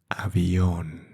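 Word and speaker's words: avión: And what is the pronunciation? Well, airplane in Spanish is avion. Aion. And maybe you can see there some asen some tick.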